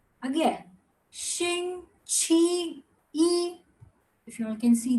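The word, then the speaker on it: 星期一: Xing, Qi, Yi. Again, Xing, Qi, Yi.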